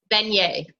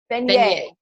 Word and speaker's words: Venier: Venier. Venier.